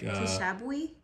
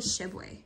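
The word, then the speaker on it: Tshiebwe: I think the T is silent, so it's probably Shibwe.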